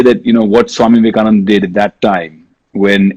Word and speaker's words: Vivekananda: And Swami Vivekananda, unless he heard Donald Trump pronounce his name the way he did, Vivekamundan, which gave me all